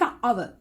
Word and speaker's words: hour: Correct pronunciation එක hour. Silent letter එක වෙන්නේ H.